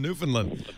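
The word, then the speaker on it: Newfoundland: New Finland you put it's kind of like new fin land you put you put the emphasis on the land and you put less emphasis on the uh I would say New Finland but it's New Finland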